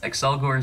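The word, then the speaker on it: Accelgor: axel excel gore accellorog for the record it's excel gore so it's pronounced excel but you're noticing it's pronounced axle because triple x exists you know everyone is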